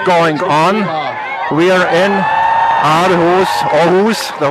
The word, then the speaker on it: Aarhus: Just to tell where we are and what is going on, we are in Aarhus, the right pronunciation.